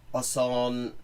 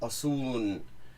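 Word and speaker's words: آسان: in Farsi, is that in informal speech, a lot of things that in proper formal speech have a long o sound become an u sound. So John becomes June, Asan becomes Asun, Tehran becomes Tehrun.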